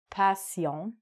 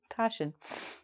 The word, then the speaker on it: passion: But be careful, it's not passion. Passion.